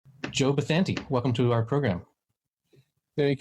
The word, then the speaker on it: Bathanti: You know what, too, and you pronounce my name right, so I like you so much for that. Well, that's the Spanish pronunciation. I get I can't pronounce Colorado, but I can pronounce Bathanti.